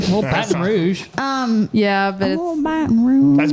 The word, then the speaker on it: Baton: But Baton Rouge.